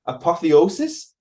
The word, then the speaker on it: apotheosis: Apotheosis? It sounds like a Harry Potter spell. Yeah, you pronounced it properly.